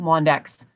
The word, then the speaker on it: Londeix: And for anybody who wants to look up Jean-Marie Londeix, his last name is pronounced Londeix.